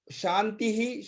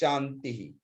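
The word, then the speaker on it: शान्तिः: appears at the end, that pronunciation depends on the last swara. So in case of Shanti, the swara is E. So it is sung as Shantihi.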